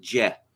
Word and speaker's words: Jeh: johnson yes it's it's spelled jeh but it's pronounced jet he warned sunday that unmanageable numbers of illegal